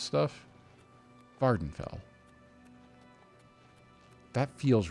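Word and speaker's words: Vvardenfell: Vardenfell. That feels right. Vardenfell with a V. There two V's. One of them is silent.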